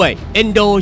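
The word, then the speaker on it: 遠藤: เซ็นเตอร์ ฮาล์ฟ ได้ ด้วย เอ็นโด ชื่อ ของ เขา เนี่ย ออก เสียง ยาว นะ ครับบาง คน อาจ จะ เอ็นโดะ ก็ ได้ เขา เกิด ที่ เมือง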